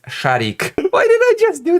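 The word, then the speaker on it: Шарик: The T-34-85 tank Rudy, Ginger, with the identifying number 102, a German Shepherd dog from Siberia, Sharik, pronounced Sharik.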